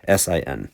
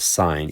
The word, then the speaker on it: sin: s i n so a lot of students make the mistake of saying well this means sin no no no you actually pronounce this three-letter word sign even though um you're too lazy to write the e and same thing down